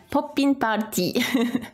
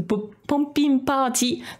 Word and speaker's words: Poppin'Party: c'était ce groupe là c'est un groupe qui s'appelle Popin party poping party ou poping party ça dépend comment on le prononce japonais ou anglais et la chanson qu'on